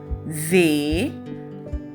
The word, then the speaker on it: ز: سب سے پہلے ہم کہیں گے زال، زال، زے، زے، زواد، زواد، زوئیں، زوئیں۔ ان چاروں حروف